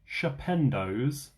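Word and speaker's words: schapendoes: Is a Dutch shapendos a type of dog, a type of pig, or a type of cheese?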